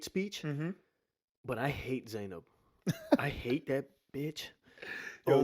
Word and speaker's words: Zainab: First off, I think her name is Zainab. I don't think it's Zanab.